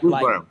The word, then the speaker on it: Brown: Bruce Brown.